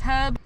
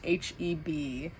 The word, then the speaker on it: H-E-B: I'm gonna go inside this Heb. Hello, this is Editing Ken from the future. So since recording this video, I have learned that it's pronounced H-E-B and not Heb.